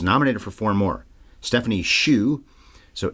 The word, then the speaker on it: Hsu: for four more Stephanie Shu so Hsu but pronounced shoe for best supporting actress